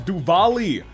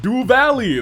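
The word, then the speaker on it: Duvalie: Uh Stall's R names Stalls Ritter rather names are pronounced as Duvali uh pronounced Duv Valley. There we go. Duvali.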